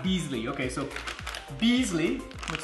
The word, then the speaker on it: Basili: See, the magazine says Basili barbecue is pronounced Beasley.